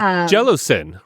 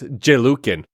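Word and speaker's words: Jelucan: It was like like jellosin, right? Yeah. It would literally sound like jello. Yeah. Yes. Yeah. Jello. And to I thought it was I pronounced it the whole time as Jukin.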